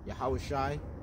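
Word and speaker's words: Yahawashi: His name is Yahweh Shai, not Jesus, all right, because the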